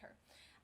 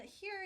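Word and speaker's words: H.E.R.: class strip down songwriting with her HR but I think she pronounces it her um so as somebody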